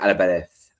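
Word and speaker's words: Álvarez: It's Julian Al. It's Julian Alabareth. Albar. It's T H at the end.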